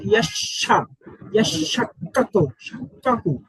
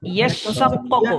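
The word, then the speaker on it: يَشَّقَّقُ: কাকু না ইয়াশ কাকু, ইয়াশাক্কাকু ভাইয়া, ইয়াশাক্কাকু। জি মানে ওটাই মানে এটা যদি এভাবে পড়ে তাহলে ভুল হবে যে ইয়াশ কাকু, তাহলে তো শিনের উচ্চারণটা সঠিকভাবে হলো না। হবে ইয়াস শাক কাকু, হ্যাঁ, ইয়াশাক্কাকু।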